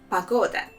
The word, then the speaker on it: погода: And the important note here that the first letter O, we will pronounce it as A because it's not stressed.